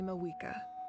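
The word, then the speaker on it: Mavuika: Oh, and feel free to call me Mawika. It's what all my Mawika. friends call me, and I like it that way. The V is silent.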